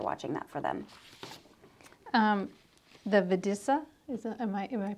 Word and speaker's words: Videssa: The Videssa, am I pronouncing that right?